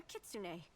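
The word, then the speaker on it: kitsune: appears your observation is correct I am a kitsun I like that the voice actors pronounce it right if my hypothesis is correct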